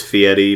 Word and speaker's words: Fieri: with Guy Fieri and I know it's fatty but it's spelled Fieri I mean does and does this bother anybody else like it does me I mean it's an R not a t like how can we